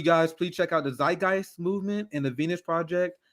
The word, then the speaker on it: Zeitgeist: Zeitgeist. What's that? No, I'm saying it wrong too. Yeah, it's Zeitgeist. No, it's Peter Joseph.